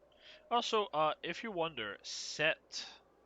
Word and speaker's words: Sept: Also, uh if you wonder, set, that's how we pronounce it. S E PT, that means seven in French.